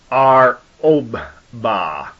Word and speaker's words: Arubbah: This word 699 is spelled Arubbah, and it's pronounced Ar-Obba.